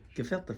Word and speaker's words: gefilte: hey whoa profanity how you pronounce it gefelt the fish gefilte fish now don't you be culturally appropriate man